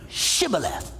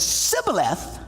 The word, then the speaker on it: Shibboleth: He says, if he replied no, they all said, all right, well then say Shibboleth. And if the guy said Sibboleth, because he could not pronounce the word correctly, they seized him and killed him in the fords of the Jordan.